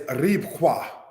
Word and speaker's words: Rebecca: Rebecca, said as Ribqua.